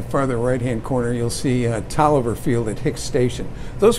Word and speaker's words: Taliaferro: When these originally were built, they were built and they were referred to as Tolliver 1, 2, and 3. And it's spelled Taliaferro, but it's pronounced Tolliver.